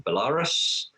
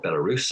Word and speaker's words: Belarus: saw a lot of investment in football in belarus or belarus i should say pronounce that properly nicaragua and turkmenistan now obviously